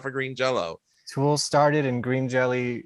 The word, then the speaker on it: Jelly: green jello or jelly it's spelled jelly but pronounced jello yes well what i've